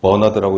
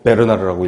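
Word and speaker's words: Bernard: 그래서 버나드라고 읽으면 안 되고 베르나르라고 읽어야 된다고 출판사 사람이 알려줬는데 아무튼 이 양반은 항상성, 호메오스테시스 항상성을 건강의 그 조건으로 이야기를 했다라는 겁니다.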